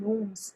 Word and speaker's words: gnomes: यहाँ जी जो है साइलेंट है, यानी जी की आवाज़ ग हम नहीं बोलेंगे, इस शब्द को हम बोलते हैं नोम्स।